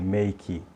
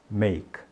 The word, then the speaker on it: make: verbo fazer em inglês que é make não tá terminando esse Ezinho Então qual é a nossa tendência é pronunciar esse e como se fosse I Então a gente diz assim make make né não não diga esse e ele não é pronunciado então você para na consoante no k Então você diz make make